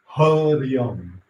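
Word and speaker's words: Hariang: As you say the sounds, vibrate the sounds, Harium, Harium.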